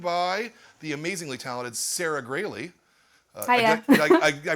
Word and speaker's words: Graley: We are here at the store, and we are joined by the amazingly talented Sarah Graley. Hiya. Did I pronounce that right as Graley, not Growley?